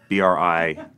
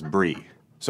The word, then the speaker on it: bris: what a bris was and I decided to pronounce it Bri Bri s as Bri so I did the whole monologue about of my